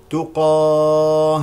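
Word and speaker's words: تُقَاةً: الزين الزاي الزاي الزاي تقات واذا وقفنا عليها نقف بالهاء الساكنه تقاه تقاه تقاه تقاه بقبول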